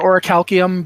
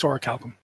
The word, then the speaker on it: orichalcum: Some people pronounce it orichalcium, but it's orichalcum.